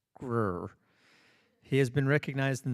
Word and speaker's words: Greer: Michael Castle is from Greer, South Carolina, pronounced Grr.